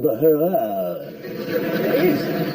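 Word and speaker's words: Huayra: It's called the Hurrah. It is. It's spelt H-U-A-Y-R-A.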